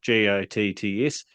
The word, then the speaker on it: Gotts: It's Gotts, isn't it? I'm pronouncing it right. Gotts.